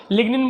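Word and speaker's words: lignin: होती है जबकि इसमें लिनन की बनी होती है एल आईजी एन आई ए अगर आपको लिगन बोलना है तो लिगन भी बोल सकते हैं इसको ठीक है जी साइलेंट है इस में नेक्स्ट द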